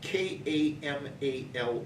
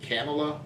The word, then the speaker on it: Kamala: spelling of her name, Kamala, a lot of people want to pronounce it Kamala or something like that. Think of the the accent in phonetics, comma. It's Kamala Harris.